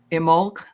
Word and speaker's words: Imbolc: uh IM I want to say it right imul we aren't in imul right now that but we wanted to make